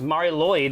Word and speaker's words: Mari Lwyd: It's Mari Lwyd.